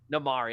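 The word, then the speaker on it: Namaari: no no namari okay namari that's her name i remember am i saying it right no you are you are i literally literally when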